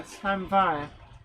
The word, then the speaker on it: Llanfair: Gwion Reese Davies, big hello to you, says that is the correct pronunciation for Llanfair.